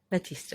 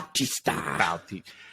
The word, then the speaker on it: Bautista: Wow, that is Batista. Yeah, Batista. Yeah. Bautista. I know that's how you actually pronounce his name.